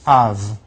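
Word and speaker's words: אב: put those two together, you get a sound, Av, pronounced Av.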